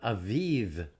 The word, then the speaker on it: Aviv: observed the month of Aviv get the B it's pronounced like a V spell it with a V I've even observe the